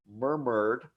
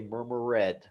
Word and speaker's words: murmured: speak them correctly right we'll have a word like murmured but a lot of students will say murmur read or wash it right so